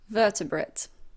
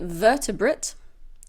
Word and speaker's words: vertebrate: Vertebrate. This is also a countable noun. You can say vertebrate or vertebrate. Both pronunciations are correct.